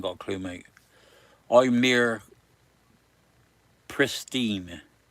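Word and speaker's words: Presteigne: Ire pristine is spelled funny. P R E S T I G N E but it's pristine in Mid Wales.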